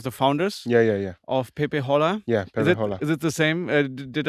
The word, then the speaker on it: PePeHola: Yeah, PePeHola.